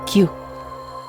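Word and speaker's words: きゅう: Q. K-Y-U. Q. I'm just gonna... No. Not with a Q. K. It's... I'm mispronouncing it. I'm not a Japanese guy. So it's literally K-Y-U. Q.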